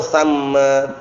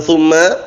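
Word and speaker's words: ثَمَّ: Au hahunaka, au hunalika, au hanna, au hinna, au samma. Bukan summa, sama bacanya, ingat.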